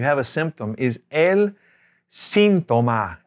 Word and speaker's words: síntoma: The symptom, you have a symptom, is el síntoma. Accent on the I. El síntoma.